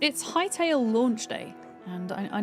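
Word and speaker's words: Hytale: It's called H High Tail, but it's spelled H Y T A L E.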